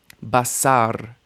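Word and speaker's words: בשר: Basar. Basar means flesh. Initial stress.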